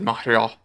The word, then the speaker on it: Montreal: won obviously it's in Montreal or as Pat MC said mreal yes with no T I agreed Pat by